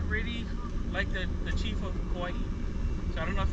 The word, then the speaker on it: Hawaii: Also in the Hawaiian language, when you see a W in the middle of a word, usually it's pronounced as a V. So that's why we say Ka'ava. What else word has a W in the middle? Hawaii. There you go. So we say Hawaii.